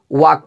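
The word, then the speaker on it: walk: यहां पर है की इसे पहले इल आया हुआ साइलेंट होता है तो इसको क्या पढ़ेंगे वाक पढ़ेंगे याद रखिएगा यहां पर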